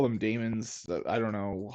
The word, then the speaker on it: daemon: it is a demon it is a demon I don't know why I call them Damon's um but you know what I might yeah it's an archaic spelling of of demon and it's demon pronounced demon I'm gonna pronounce some